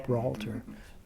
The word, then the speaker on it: Gibraltar: Did I pronounce that right? Yeah. Gibraltar.